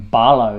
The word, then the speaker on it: Paulo: uh the pronunciation of we've been calling him paulo for the longest time they're calling him barlow now that's the problem that's the pronunciation that he's requested um for his name but uh yeah there's